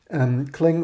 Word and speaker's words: Clang: Also, yeah, some people pronounce it Clang, other C lang. Also, I mean, I previously preferred C lang for C language front end until too many LLVM developers told me, yeah, we want this pronounced Clang.